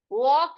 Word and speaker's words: walk: उसी प्रकार यहाँ पर ये देखो WALK, इसको हम वॉक कहते हैं, ठीक है।